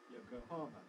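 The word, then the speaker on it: Yokohama: very readily we uh in English we stress Yoko harmer anglicized the stress is on the har Yoko Hara but it has a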